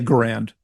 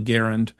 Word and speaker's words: Garand: Most people say grand. Uh I've heard that that is the incorrect way to say it. It's actually Garand.